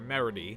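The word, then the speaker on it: Meredy: a way adoptive daughter melody and no i did not mispronounce that name it is spelled meridie she's a character that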